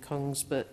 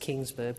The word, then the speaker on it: Kongsberg: Australia in partnership with Kongsberg, I think it's pronounced Kingsburg, but in Kongsberg Defence in Australia.